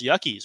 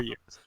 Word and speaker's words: Yuke: It's pronounced Yuckies, right? Oh, is it Yuckies? I thought they called them No, Yukes. I'm kidding. I thought you were gonna roll with it, but they're Yukes.